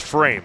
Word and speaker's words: Fromm: It is pronounced frame.